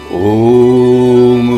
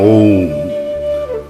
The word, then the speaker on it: ওম: আছে এই ওম শব্দে ওম উ ম এই তিন অক্ষরের মিলনেই ওম উচ্চারণ হয় অ শব্দে ব্রহ্মা অর্থাৎ